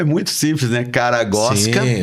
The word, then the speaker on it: Karagozwk: Caragosca. Sim. Bem tranquilo. Como que pronuncia? É fácil, né? Você pensa assim: "O cara gosta" e troca o tá por K.